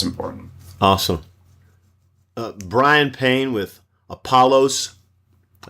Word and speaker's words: Apollos: Bryan Payne with Apollos. I said it right. Apollos Partners, yes.